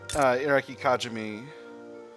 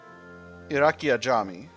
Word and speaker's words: Iraqi Ajami: We have to get Iraqi Kajami. Iraqi Ajami. Ooh, I've been pronouncing that one wrong.